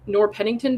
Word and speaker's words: Noerr-Pennington: had something to do with this like Nor Nor Pennington doctrine. Did I pronounce that right?